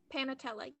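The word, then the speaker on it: panatela: Panatella, yes.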